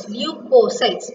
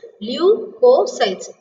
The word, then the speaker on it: leukocytes: White blood corpuscles are otherwise called as leukocytes. How do you pronounce this? Leukocytes. L-E-U. Leukocytes. C-Y-T-E-S sites. Okay.